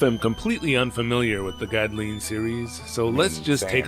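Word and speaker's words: Gdleen: Yep, I'm going to pronounce it Godlin since that's what the Japanese pronunciation seems to suggest.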